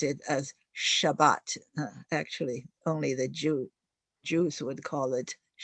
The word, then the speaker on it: Shabbat: 我们说 Sabbath 在中文讲叫做安息日, and in the Judeo-Christian religions, you would probably pronounce it as Shabbat.